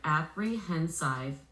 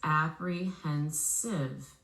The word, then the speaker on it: apprehensive: When I blend them together, apprehensive, it doesn't sound right. I have to flex the last vowel to the schwa to adjust the pronunciation. When I do, the word becomes apprehensive. Apprehensive.